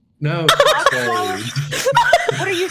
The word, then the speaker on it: Cotswold: You were in when I- Coxwallow? No, Cotswold. What are you saying? Spell it.